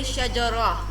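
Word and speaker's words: شجرة: of the word, and when stopping is read as letter ha. It means that if you want to join the word with other words like shajaratun tawilun, so it will mean then you will pronounce the sound tun. But if you have to stop here shajaro, then and stop at this word, then you will say shajara, because you are stopping.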